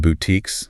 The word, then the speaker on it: boutique: Those are often called boutiques. Listen to the sounds. Long uh long e. Silent e. Yeah. Boutique.